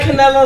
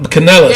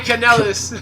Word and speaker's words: Kanellis: Mike Canella like a wrestler or some shit like that? No, Canellis. Yeah, Mike Kanellis.